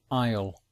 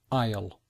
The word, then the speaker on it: aisle: passage is called an aisle if you notice the the difficult pronunciation it begin you don't hear the letter S and it's not really